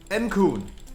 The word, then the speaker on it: Encoon: Encoon. It's like a raccoon, but backwards.